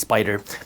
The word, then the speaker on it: SPDR: an etf made by spyder spdr they're pronounced spider but these are two different